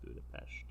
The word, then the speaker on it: Budapest: It's pronounced Budapest.